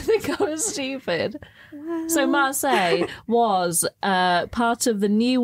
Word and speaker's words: Marseille: Marseille. So, yeah, the band name that you've just asked me to pronounce is a very well-known place in France. Yes. Okay. Great. Yeah. Marseille.